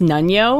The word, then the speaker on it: Nunyo: So initial in the audiobook, His name is pronounced Nunyo. Oh, really? Which all I could think was Nunyo. Nunyo business.